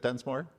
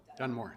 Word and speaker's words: Dunmore: Is it Dunsmore? No? Dunmore. Dunmore. The S is silent.